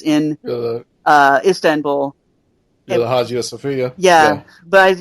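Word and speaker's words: Hagia Sophia: uh Istanbul you're the Haj of Sophia yeah but you're not supposed to pronounce the h and I can't remember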